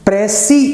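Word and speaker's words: précis: प्रेसी जो शब्द है PRECIS, इसका प्रोनाउंसिएशन होता है प्रेसी। बेसिकली फ्रेंच शब्द है ये, और इसका अर्थ होता है टू कॉन्साइज।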